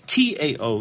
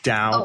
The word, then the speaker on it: Tao: o d AO it's Tao it's pronounced Dow um you can pronounce